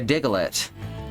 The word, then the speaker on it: Diglett: I have to pronounce it diglett because that's how they pronounced it in the uh in the US dub of the anime. Like not the people, not the humans. The Digletts pronounced it Diglett.